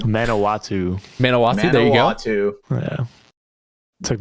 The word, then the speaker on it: Manawatu: When I walk in that pits and I put on my other mask, Manitowati Titans player, or however you pronounce their team name. Manawatu.